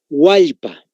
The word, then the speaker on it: Hualpa: Hualpa.